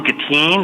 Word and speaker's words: Gattine: Senator Miller, my name is Gatine. It's spelled Gattine, and I'm a senior policy fellow at the National Academy for State Health Policy.